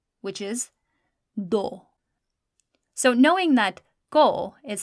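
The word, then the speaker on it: دو: The number 2, which is do. So knowing that go is spelled kaf, vow, how do you think do is spelled? It'll be dal and vow.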